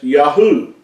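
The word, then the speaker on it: יהו: Yahoo Yahoo this is the first three letters of the Creator's name are pronounced or transliterated as Yahoo this is found in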